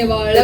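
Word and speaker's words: Vazhakulam: Say it's option A, Valakkulam.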